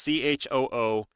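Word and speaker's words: Chiwetel: Chuatel Ejiofor. Chuatel. Chuatel. That's how you pronounce his name. Chuatel. It's Chooetel. And the E is kind of like one of those backwards E's, so that's I think.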